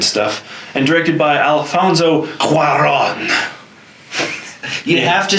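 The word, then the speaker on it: Cuarón: all those good stuff and directed by Alfonso Cuaron you have to say it with the ridiculously over-the-top bags I can't pronounce it correctly otherwise it's like Corrin no happy gilmore miss directed by Dennis Dugan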